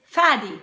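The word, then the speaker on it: Fadi: Another one is faddy, rhymes with shaddy.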